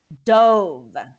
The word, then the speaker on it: dove: it in this tense it's with dive it's an action word that's pronounced dove dope okay so the